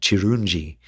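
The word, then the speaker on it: Kirungi: It hasn't hasn't been released quite yet, but that song's going to be called uh it's it is called Chirunji, which is spelled k i r u n g i and that's the Luganda word for beauty.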